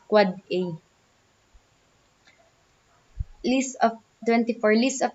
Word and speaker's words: AAA: The NS is an authoritative name server, and the AAA, an end device IPv6 address pronounced quad A.